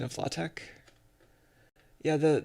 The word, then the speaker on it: LaTeX: about the pronunciation of latex yeah the the x is pronounced that way it's supposed to be a kai or whatever that is